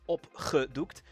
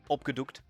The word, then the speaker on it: opgedoekt: So doek kind of sounds like Duke. A little shorter, but that's close enough. And the G is once again that lovely guttural sound, opgedoekt. For your sanity, I would just pronounce it with, like you would say go or get, opgedoekt. Probably close enough.